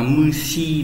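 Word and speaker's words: 虫: Trùng và sỉ đọc là trùng bình thường đọc là mushi đúng nhỉ?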